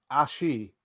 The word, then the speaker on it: ashi: And you hear from behind you, the word is ashi with a ch sound, says Karen. You're saying it wrong.